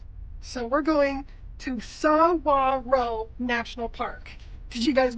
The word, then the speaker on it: Saguaro: So it's spelled Saguaro, but we just learned, I'm gonna butcher it again, it's Saguaro. So the GU sounds like a W. So we're going to Saguaro National Park.